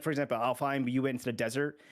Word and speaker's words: Alfheim: Because that was one where I was like, that was probably the world where I think I cared or is it Anaheim or Alfheim? Sorry. Alfheim.